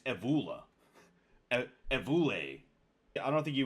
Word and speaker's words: Evola: It bothers me that I still don't know how to pronounce his name. Actually, it's Evola.